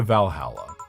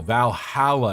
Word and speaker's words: Valhalla: It's pronounced HAL. Valhalla, not Valhalla.